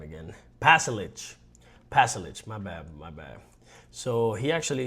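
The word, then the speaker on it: Pašalić: Croatian Marko Palisic? Let me see how you pronounce his name again. Pasalic, my bad.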